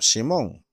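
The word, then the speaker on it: שמעון: ver nosotros encontramos que simeón que pronuncian hebreo simon no fue mencionado específicamente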